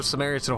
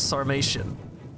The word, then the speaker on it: Sarmatian: going up against another samaritan horse archer you're going up against the armored horse archers i think somebody actually told me i was pronouncing this wrong and i definitely am it's sarmatian so pardon the emperor